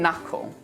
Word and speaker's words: knuckle: Now, here are some words when we don't pronounce the K. Knee, knife, night, knit, knob, knock, not, no, and knuckle.